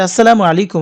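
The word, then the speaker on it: السلام عليكم: আমরা সালামটা কিন্তু সঠিক ভাবে দিতেই পারি না আসসালামু আলাইকুম আর কিভাবে যেন আমরা এ একজন একেক ভাবে বলি আমি সঠিকভাবে ওইভাবে বলতে পারতেছি না তো আপনারা চেষ্টা করবেন সঠিক ভাবে সালামটা দিতে আসসালামু আলাইকুম আপনার উপর শান্তি বর্ষিত হোক সেটাকে যদি আমরা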